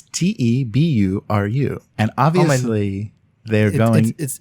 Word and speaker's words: Teburu: pronounced various ways and my favorite one so far is two Beru it's te bu are you and obviously they're going